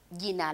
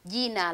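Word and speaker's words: jina: ask me what is your name they'll say gina lako nani sometimes we use j which is at the beginning if you don't want to make that sounds because israeli pronunciation are not difficult so we say yina lako nani what is your name gina lakko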